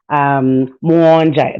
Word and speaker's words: Muhonja: And like you said, my name is Muhonja. Muhonja, that's how it's pronounced.